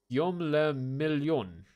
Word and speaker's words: Guillaume le Million: Guillaume le Million. William the Million. If it doesn't rhyme, you're not pronouncing it right.